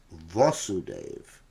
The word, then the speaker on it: Vasudeva: father in mathura is vasudeva got it in other words it's the same spelling but with a short a in the beginning and the name of Krishna is vasudeva along a whole prevailing vasudev